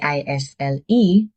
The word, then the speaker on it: aisle: It's spelled A I S L E. But the S is silent. It's pronounced isle like the word isle.